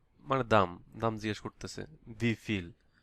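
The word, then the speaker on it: wie viel: V feel, V feel, how, হাউ মানে আমরা পড়েছি ভি, তাহলে ভি ফিল। এখানে আবার দেখেন এই যে এ ভি, এখানে আবার এই ভি এর উচ্চারণ হবে এফ।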